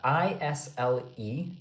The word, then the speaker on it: isle: The I-S-L-E, the S is completely silent. So, we say isle, but for example, there's